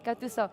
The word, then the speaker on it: Gattuso: The coach of Napoli, how do you pronounce it? Gattuso.